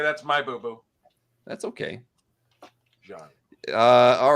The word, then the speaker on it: Jean: I know, but it's pronounced John.